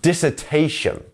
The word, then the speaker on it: dissertation: a long word dissertation and as you can see here uh this part here is the stress syllable so dissertation not dissertation or dissertation is dissertation the t is our stressed syllable here um next up up